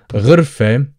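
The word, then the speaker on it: غرفة: So the letter gha is pretty much the same pronunciation as the French R.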